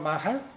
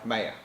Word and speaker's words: Maher: different format because we have a guest Maha did i pronounce her name correctly mayor mayor okay hi welcome to the dr answers